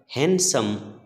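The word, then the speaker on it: handsome: Bright चमकीला, shining चमकीला, famous प्रसिद्ध, रिनाउंड प्रसिद्ध, ब्यूटीफुल सुंदर, गुड लुकिंग सुंदर, हैंडसम सुंदर। बच्चों इसमें डी साइलेंट रहता है।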